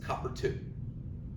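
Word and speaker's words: copper(II): You would pronounce this as copper 2. You don't say copper parenthesy Roman numeral 2 parenthesy. You don't do that. It's just this is the copper 2 ion.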